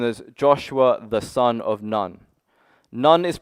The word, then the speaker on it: Nun: Now Joshua is known as Joshua, the son of Nun. Nun is pronounced in the Bible N O N. So son of noon.